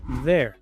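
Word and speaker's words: they're: y griega es muda, se pronuncia la r y al final la e es muda. Por eso que tiene la misma pronunciación, there.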